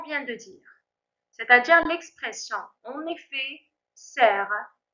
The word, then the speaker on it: en effet: L'expression numéro 3, en effet. Alors là, on ne prononce plus le T final.